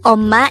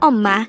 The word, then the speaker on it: 엄마: word number 132 this is pronounced as a two syllable word the first syllable is om second syllable is ma pronounce it with me om om the word omma is simply the Korean